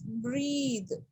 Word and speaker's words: breathe: Okay, when E is added to the word, then it becomes verb. Okay, so it is breathe.